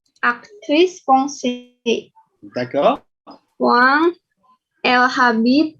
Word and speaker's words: habite: Voilà, les Français ne prononcent pas le H, c'est muet. Elle habite ya, walaupun tulisannya ada hanya.